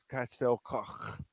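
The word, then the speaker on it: Castell Coch: But in Wales they say it they say it in their language. They call it Castel Coch. That's how they talk. But it's Castel Cosh.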